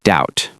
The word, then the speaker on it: doubt: For example, knee, knife, hour, and doubt. You don't pronounce the K in knee or the B in doubt.